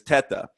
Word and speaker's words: Teta: So I'm Italian, so the correct pronunciation is Teta. But I always grew up with the pronunciation Teta through my whole family,